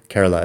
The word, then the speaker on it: Kerala: The region is called Kerala, or Kerala, possibly you want to pronounce it. Kerala is how they pronounce it.